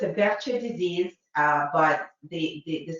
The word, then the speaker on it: Behçet: So the true name of this disease is Behçet disease. That's how the entire Turkey medical community pronounces it. Somehow in the States, it's called Behçet. To the point that I had a case like that on my boards and I said Behçet and nobody understands what I'm talking about.